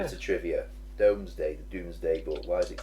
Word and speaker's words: Domesday: I mean, it's spelled DOMES, Doomsday. Yeah. But I thought it was like DOOMS.